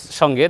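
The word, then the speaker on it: ث: ভাগের প্রশস্ত দুইটি দাঁত এই দুই দাঁতের আগার সঙ্গে ইয়া জিহ্বা লাগালে উচ্চারণ হবে সা খুবই নরম করে আওয়াজ বের করতে হবে সা সা এভাবে বলতে হবে প্রিয় দ্বীনি ভাই বোন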